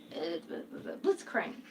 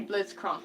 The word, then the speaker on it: Blitzcrank: crocheted the robot dude blitzcrank i want to say blizzcronk because you know like that's how you say it in german but apparently in english i know everybody's screaming